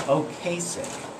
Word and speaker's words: Ocasek: And I mispronounced the guy's name. I want to apologize about that. Rick, I guess it's Ocasek.